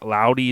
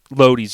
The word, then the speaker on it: Laudies: is is it la i always say it wrong la laudies it's like l-a loadies yeah their name was